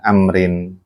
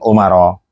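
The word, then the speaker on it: عمرو: Kenapa kok bacanya Amrin? Amrin kok bukan Umar bacanya. Apa yang membedakan? Kan sudah jelas sebetulnya. Mak Ana ngingetin aja. Kenapa bacanya Amrin? Kok bukan Umar gitu loh bacanya Amr? Kan hurufnya sama yang beda kan ada wawunya.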